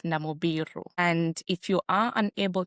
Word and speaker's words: Namubiru: Because normally I hear people pronouncing all sorts of Namoirus, you know, in emails and all those kind of things. It's it's quite very crazy. But you pronounce my name as Namibiru.